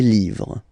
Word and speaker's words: livres: Okay, les, and then same rule, you just write livre, and then you put s at the end, but then you don't pronounce it. Les livres.